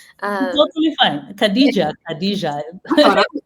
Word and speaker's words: Khadija: I was completely mispronouncing your name. Totally fine. Khadija.